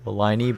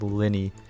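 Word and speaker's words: Lyney: me that uh well i was calling the character liney but in french it would be pronounced linny which makes sense because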